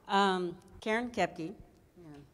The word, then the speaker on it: Koepke: Karen Koepke. It's not pronounced the same as it's spelled, so.